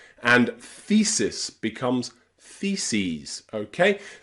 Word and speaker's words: theses: Same with crisis becomes crises, and thesis becomes theses, okay? That es on the end of words here is always pronounced ease, ease, because they're taken from Greek, okay?